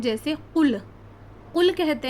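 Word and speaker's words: قُل: और अगर हम इसका सही कौफ का सही प्रोनाउंसिएशन ना करें। कौफ जो है वो हलक के दरमियान ही हिस्से से अदा होता है। अगर हमने नहीं निकाला और हमने कहा कुल तो कुल कहते हैं खाने को यानी खाओ।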